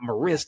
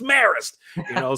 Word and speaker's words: Marist: It's not Marist, it's Marist.